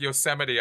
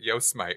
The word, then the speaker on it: Yosemite: yes I do there the first time I ever said yosemite i pronounced it yo smite right but here you